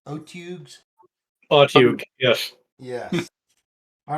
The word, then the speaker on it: otyugh: How do you pronounce Otyughs? Otugs?